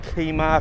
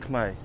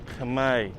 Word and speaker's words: Khmer: They're calling it Kima, Kaima, Koma, Khmer. It's pronounced Khmer. Khmer, like a K with the month May.